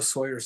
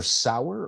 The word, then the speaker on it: Sauer: I go by Pedro Sawyer's school. Pedro Sauer or Pedro Sawyer? Okay. Sauer. Okay. Pronunciation. I've been hit in the head. That's okay. Yeah. Sauer.